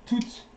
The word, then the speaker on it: toutes: And toutes, don't pronounce the S, les femmes.